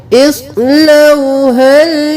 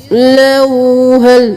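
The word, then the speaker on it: اصلوها: सबसे पहले इसको देख लीजिए, इस्लौहल यौम। यहाँ पे हम इस नहीं करेंगे, इस कौत को मोटा पढ़ेंगे। इस लौहल, लोहल नहीं करना, लऊ, लाम जबर वो लऊ, और फिर हा जबर लाम।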